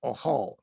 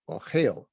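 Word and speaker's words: אוהל: Ochel. In Yehud, it would be Ohal, but in modern day Hebrew, it's Ochel.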